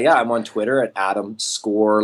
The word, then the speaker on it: Scorgie: You can, I'm on Twitter at Adam Score like a goal with a big G, because that's how my name's pronounced. Thank you for getting it right, actually, Duncan, in the beginning there. Most people say Scorgie or something.